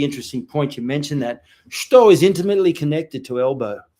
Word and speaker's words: shuto: Okay, so Shuto, Sakotsu Uchi, 1. Also, in terms of pronunciation, I know I don't want to harp on Japanese, but the U in Shuto is often silent in Japanese.